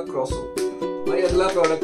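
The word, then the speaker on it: croissant: ना ऐसा लगेगा भाई क्रोइसेंट क्रोइसेंट लिखा हुआ है। तो जब मैंने गूगल पे चेक किया ना भाई ये कोई फ्रेंच नेम है, उसको क्रोसो बोलते हैं, क्रोसो।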